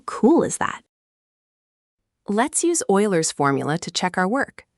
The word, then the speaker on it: Euler: A mathematician named Leonhard Euler, pronounced Euler, discovered that for any solid 3D shape, the number of faces plus vertices minus edges always equals two.